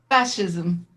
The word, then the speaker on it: fascism: Fascism. I still didn't say it right. I want to put an H in it. Fascism. Like fashion.